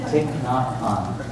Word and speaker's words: Thich Nhat Hanh: Thich Nhat Hanh. And that's how you pronounce it.